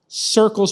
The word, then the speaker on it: Sircles: I would just call it Sircles and then do Get Sircles or Go Sircles. It is just Sircles. But it's spelled with an S.